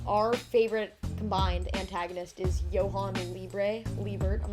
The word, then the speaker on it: Johan: I'm pretty sure it's Johan cuz like the soccer player Johan C the J is pronounced like a y um but and then